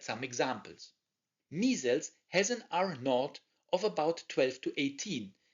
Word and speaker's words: R0: This is measured by its basic reproduction number, or R0, actually pronounced R0.